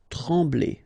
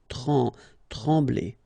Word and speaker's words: trembler: Okay, same thing here. Nasal, EM, okay? En. Trembler. Okay, no pronunciation of the M. Trembler.